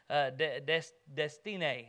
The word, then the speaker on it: Destiné: Justin and I took turns sharing the gospel with Patrick doing the Destiné, is how his name's pronounced, he told me. He says it's like destiny, but Destiné.